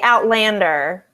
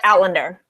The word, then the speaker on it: Outlander: You don't say Outlander. You say Outlander. No, Outlander. I don't think she There's does. like very little emphasis on the second syllable.